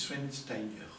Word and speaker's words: Schweinsteiger: C'est pas Schwarzenegger, et c'est pas... moi, j'ai eu un mal fou à Non, prononcer. c'est Schweinsteiger.